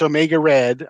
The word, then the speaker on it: Omega Read: It's spelled like Reed, but it's Omega Red on Instagram.